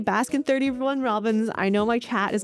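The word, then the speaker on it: Baskin-Robbins: The second place I was able to visit was Baskin 31 Robbins. Now, every time I say Baskin 31 Robbins, I know my chat is going to come after me and say the 31 isn't actually pronounced, but I still think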